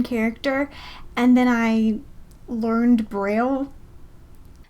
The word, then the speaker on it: Braille: So we call it Braille, but it was invented by a French guy in 1824, so I guess technically it would be pronounced Braille. I will not be pronouncing it that way.